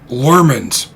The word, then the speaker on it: Lurmans: And this would be that one of the alien races shown in the serial are also called Lurmans. Same pronunciation, different spelling.